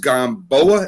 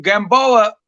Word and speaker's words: Gamboa: I think it's Yorkis Gamboa. Am I saying it right? Yeah, Yeah. yeah. Gamboa.